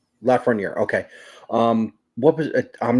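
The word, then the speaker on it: Lafrenière: How do you pronounce his last name? Alex Lafreniere. Lafreniere.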